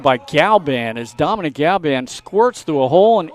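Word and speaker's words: Galaban: g-a-l-a-b-a-n which looks like galliban you know right the a is silent okay it's not usually silent sanchez has the aforementioned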